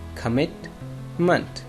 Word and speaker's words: commitment: ओ और जो लास्ट पे ई है, ये दोनों श्वास साउंड है जो कि ज़ेर की आवाज़ नहीं देते, ज़बर के देते. जैसे कमिटमेंट।